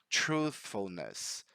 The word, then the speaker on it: truthfulness: So the reason why this is tricky is because right after the voiceless th, we have the f letter.